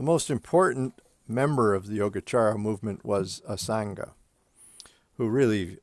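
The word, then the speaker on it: Yogācāra: of the yogacara tradition and this c is pronounced ch even though it's only written with the c oops what am i doing here so the most important member of the yogachara movement was asanga who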